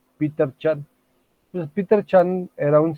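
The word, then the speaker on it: Peter Chen: esquema conceptual o esquemas de Peter Chan así se pronuncia es Peter Chan pues Peter Chan era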